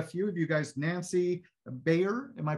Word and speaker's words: Baier: Nancy Baier, am I pronouncing that right? It's actually Baier, like you Baier. Buy a house.